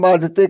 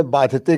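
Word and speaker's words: बाधति: आपने बाधते कहा, वहां बाधती होना चाहिए था, किम भारम बाधती।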